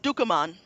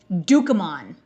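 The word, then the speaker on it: Ducommun: How do you pronounce his name? Rick Dukean. Dukean.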